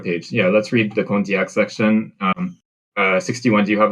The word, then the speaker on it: Condillac: It's pronounced Condillac.